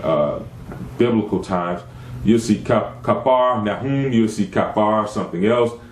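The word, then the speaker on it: Capernaum: he came to kaer the correct pronunciation of that is kapar there was a prophet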